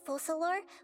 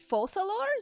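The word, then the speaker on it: Focalors: speaking the Hydra Aron falor won't Pride over individual trials is it falor that's how you say her name however even then falor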